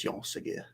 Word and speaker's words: Jean Segura: So Jean Segura. You don't really pronounce the A. It's just Jean Segura.